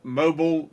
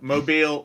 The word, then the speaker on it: Mobile: there anybody near Mobile mobile Mobile Alabama I think you said it wrong is it well whatever it's Mobile Alabama mobile anybody near Mobile Alabama